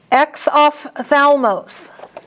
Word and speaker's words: exophthalmos: Now that PH has an F sound. Exophthalmos.